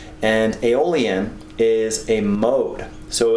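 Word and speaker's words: Aeolian: And all these notes are derived from the true minor scale which is also called aolon. Okay? And that's spelled a e o l i a n. And aolon is a mode.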